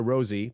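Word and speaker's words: Rosé: Pioneers, it depends on how you say it, either Rose or Rosie. People pronounce it both ways, from Blackpink.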